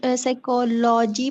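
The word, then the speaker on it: psychology: transcribe sir हम इसको साइकोलॉजी पढ़ेंगे या लोजी ी साइ साइकोलॉजी साइकोलॉजी साइकोलॉजी लजी साइकोलॉजी तो पी साइलेंट होता है इसके अंदर ये यह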